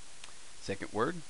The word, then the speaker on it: ヲ: which ever way but this is technically it's pronounced woah wo you usually see it pronounced oh because he's so often as a particle which usually for Indian